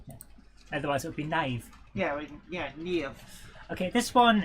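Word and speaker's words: naïve: It says you're supposed to pronounce the two vowels that are next to each other separately. Otherwise, my name would be. Yeah, which is actually also how French uses it. Yes. Hence, naive. Naive.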